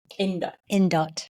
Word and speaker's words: Indot: Indot.